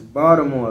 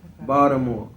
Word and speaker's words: Baltimore: she know you got you got to say it's Baltimore like a Baldhead Baltimore you gave up I